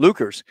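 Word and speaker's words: Leuchars: Is that how you pronounce Lukers. It? Lukers.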